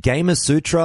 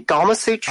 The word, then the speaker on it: Gamasutra: always get this one is it gamer Sutra I'm presuming how it's pronounced it's actually Gamasutra by everyone everyone perhaps at their own way and that's part of the fun well that's what I thought because obviously you think Kama Sutra that that would flow